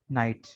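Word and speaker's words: night: कई अल्फाज में लेटर जी एच मिलेंगे, वो साइलेंट होंगे, एक साथ होंगे। जैसे ये, ठीक है, लाफ, कफ, हाई, वेट, नाइट।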